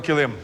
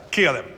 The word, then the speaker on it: килим: кореня на закінчення так у слові килим наголос був названий правим Алілуя все життя казав килим Вибачте будь ласка мене за це запам'ятайте килим відповідь була правильна переходимо